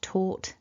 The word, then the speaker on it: taught: So when the word's written down it looks quite long, but actually really we've only got two sounds, because we've got a repetition of that T and then one vowel.